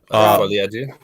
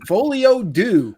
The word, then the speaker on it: folie à deux: Folie à deux. Yeah, folie à deux. It's deux. Yeah, folie à deux. Everyone's going folio deux. No, it's folie à deux.